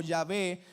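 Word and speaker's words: Yahweh: y H W H que pronunciamos como ya ve pero que habla este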